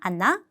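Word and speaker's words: она: 자, 강세 때문에 앞에 단어는 아 발음이 납니다. 아나, 아노.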